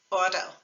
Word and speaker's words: auto: So listen to the word auto, auto. We're not actually saying a T sound, are we? It's more like a D, so auto.